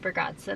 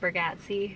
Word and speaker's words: Bargatze: We saw Nate Bargatze, not Nate Bargatze. Ber- We've been saying his name wrong for Bargatze.